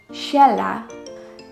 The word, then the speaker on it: Sheila: Usually we pronounce it as Sheila. But if the person wants to be called Shella, because that's how her mother and father and uncles and aunties call her, then it's her call.